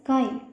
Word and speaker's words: chi: is represented by this symbol, and it is pronounced as chi.